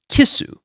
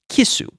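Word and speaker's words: キス: So this fish is um is pronounced kissu. This particular fish is pronounced kisu, which is how you say kiss in Japanese.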